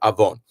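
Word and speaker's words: עָוֹן: Avon is very often placed with only one vav, and you just have to know. And being that avon means sin, you can just know it's a real sin to mispronounce that. And it's not, it happens a lot in prayer, that word, and in Torah and in Haftarah. So get it down that you know that avon is avon, and it's a sin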